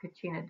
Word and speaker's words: Kachina: a drawing of your Kachina doll alright y'all sound questions and all that kind of stuff too so let's go ahead and go through this first slide alright your Katrina is pronounced Kachina and they are hand